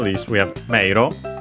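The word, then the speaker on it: 迷路: Last but not least, we have meiro. Actually, more often than not pronounced as mero, because e is usually pronounced as long e. Some still pronounce it as a. But yeah, more often mero.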